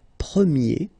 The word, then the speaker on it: premier: And then the sound will change quite much, because if you think about the masculine form, you pronounce it premier, okay? Premier. And then for the feminine form, you will get première, okay? So it's open, this e sound.